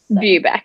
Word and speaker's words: Bubeck: to pronounce it yep so everyone always gets confused it's bubeck view back okay i was pretty close i feel like i said boo back but bubeck makes sense cool every everyone always